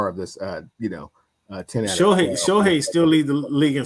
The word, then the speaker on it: Shohei: Okay, until they make the playoffs, Cam, I don't really want you statting me to death about Shotani. It's Shohei.